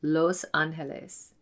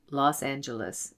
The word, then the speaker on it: Los Angeles: The angels in Spanish is Los Ángeles, which is now pronounced Los Angeles in English.